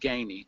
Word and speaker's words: Gainey: It's pronounced Gainey, Gainey.